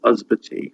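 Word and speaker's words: ysbyty: Mostly at the start of a word, a Y is a sound, as in Usbati, which means hospital, and at the end, Usbati, it becomes an E sound.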